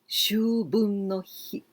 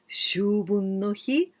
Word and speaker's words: 秋分の日: That is, now we are going to learn Shunbun no hi and Shubun no hi. Pronunciation is very, very similar. Shun or shu. Shun with N sound, shu, long sound.